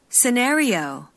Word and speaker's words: scenario: 테마, 시나리오, 카테고리, theme, scenario, category, 네, 좋아요. theme 요거는 또 듣기에서 많이 들어보셨을 거예요. theme 테마. 그 다음에 시나리오는 scenario 강세가 틀려요.